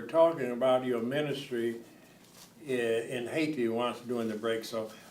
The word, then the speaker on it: Haiti: Haiti. Yeah, it's The Haiti. H is silent. H is silent Haiti.